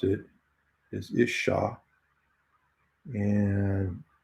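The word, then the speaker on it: אִשָּׁה: And to pronounce it is Isha.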